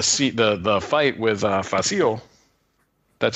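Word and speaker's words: Fasil: later and the seat the the fight with faasil that's how you say his name by the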